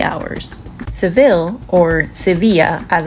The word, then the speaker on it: Sevilla: we took the train from Malaga to sevil and arrived within 3 hours sevil or seevilla as it's pronounced in Spanish is an absolutely gorgeous City